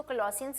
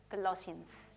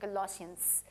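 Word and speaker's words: Colossians: कुछ लोग इसे कोलोसियंस कहते हैं, लेकिन अधिकांशतः सही उच्चारण कोलोसियंस ही है। ठीक है? 'श' ध्वनि के साथ, कोलोसियंस।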